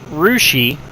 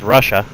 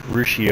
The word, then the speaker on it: Russia: 11:00 that little town down there well that's rushi which is commonly mispronounced as Russia it's rushi Ohio which means we should be coming up